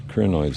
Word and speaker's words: crinoid: Yeah, I pronounce it crinoid. Crin in Greek means lily, and that I sound, that long I sound in crinoids, when people pronounce it like that, in Greek that is an iota, and it's pronounced I, so it's crinoid, according to me, according to Tim.